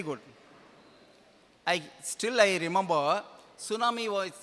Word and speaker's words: tsunami: tsunami first news T tsunami because that people did not know how to pronounce the word so after that no no T is silent it should be pronounced as tsunami so these are the words